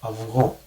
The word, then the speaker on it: αυγό: In this case, I'm going to pronounce this like αυγό, okay?